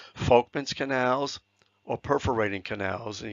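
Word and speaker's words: Volkmann: these things called Folkman's that's actually pronounced an F it's German Folkman's canals or perforating canals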